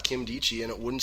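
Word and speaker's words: Nkemdiche: spelled n ke m di CH e but pronounced Kim D G those are the consensus for the most part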